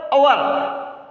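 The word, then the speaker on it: hour: यहाँ पर अवर, एच है वो साइलेंट रहता है, एच की कोई आवाज नहीं आती, अवर पढ़ते हैं इसको, अवर, अ की आवाज आ रही है, इसलिए एन का प्रयोग होगा।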